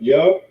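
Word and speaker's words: יד: That's the symbol yad. We pronounce it yah.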